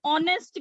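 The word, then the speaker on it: honest: Like अगर मैं बात करूं ऑनेस्ट की, ऑनेस्ट एच से स्टार्ट हो रहा है लेकिन एच साइलेंट है तो साउंड क्या आ रही है, अ क्या है, वॉवल है, इसलिए एन ऑनेस्ट मैन।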